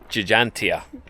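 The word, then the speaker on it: Ġgantija: So we found out proper pronunciation, Jagantia. That's how it's pronounced hopefully.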